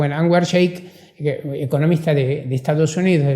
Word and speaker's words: Anwar Shaikh: toma Anwar Shaikh, o Sheikh, que hay que pronunciarlo, Anwar Shaikh, economista de Estados Unidos, de la New School,